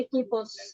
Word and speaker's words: equipos: কু এর পরে উ থেকে তারপরে ই বা এ থাকলে ওইখানে উ এর উচ্চারণ হবে না, তাহলে এটা হবে একিপোস, 10 equipos de béisbol।